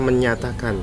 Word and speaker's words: menjatakan: menyatakan menyatakan jenya disini ternyata pakai JNE menjatakan Nah itu dibaca menyatakan sebenarnya kemerdekaan Indonesia Hal